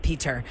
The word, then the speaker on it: Pieter: I hope I'm saying your name right because it's spelled Pieter. Is it like Peter or is it Peter? Or It is like Peter, yes. It's like Peter.